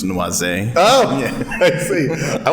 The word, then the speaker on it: noisette: It's actually the French pronunciation, so it's noisette.